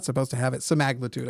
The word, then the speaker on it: semaglutide: supposed to have it sagud I think is actually how it's pronounced some magude uh there's all this like